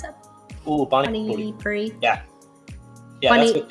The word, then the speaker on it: pani puri: How do you pronounce that? Ooh, pani puri. Yeah. Yeah, pani puri.